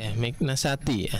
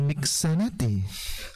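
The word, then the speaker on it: مكنسة: Awas urutan hurufnya. miknasatun, miknasati. Anil miknasati, bukan anil miksanati. Kebalik hurufnya ya.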